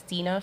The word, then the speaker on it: Dina: It's Dina, phonetically spelled.